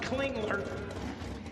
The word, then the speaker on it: Clingler: Yes, I've been saying it wrong all weekend. So, I'm very proud to say online and to the people in the stands here that is Scott Clingler and Brent Derek.